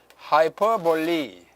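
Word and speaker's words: hyperbole: 하이퍼볼리. 하이퍼볼이라고 읽지 않고 하이퍼볼리라고 읽습니다. 그게 영어예요.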